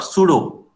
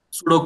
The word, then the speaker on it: pseudo: P here for pseudo pseudo code compiler so P has no other meaning except pseudo so Pudo spelling is p s c u d o like sudo random numbers so p is silent here so thereby the P